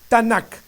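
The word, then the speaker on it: Tanaj: la historia tnk la tanac hebrea recordemos que el hebreo es una lengua de origen consonántica no existían vocales Así es que tnk se pronuncia tanac bien todos conocidos en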